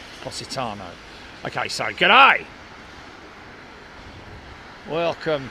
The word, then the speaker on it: Positano: Australia but yeah just like the City it's pronounced Positano okay so good ey welcome to uh Alicia